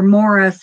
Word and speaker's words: Maurice: Maurice was Robin's twin, or Morris, I guess is how they pronounced it.